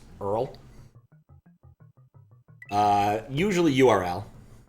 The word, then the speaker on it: URL: pronounce Earl uh usually URL not Earl I think most a like web things I generally pronounce by spelling them out rather than pronouncing them like uh hre m